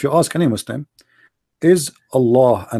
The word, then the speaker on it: Allah: we say el e it's not really it's not like allah you see allah the h is really strong in arabic there's light light h which is not even pronounced so okay okay so